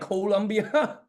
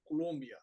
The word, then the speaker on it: Colombia: So it's pronounced like colon, like Colombia. You've seen, Yeah. you know how they say it, Colombia.